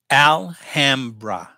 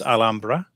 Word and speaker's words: Alhambra: city in Spain and I think it was all Umbra was the original pronunciation but you know but if locally they're saying Alhambra then you know Alhambra it shall be stone or kitchen you